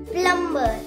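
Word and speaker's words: plumber: B silent है, प्लम्बर। बी तो सो रहा है, उसे तो सो नहीं दो, उसे उठाना नहीं है, वो सो रहा है, उसे सोने दो।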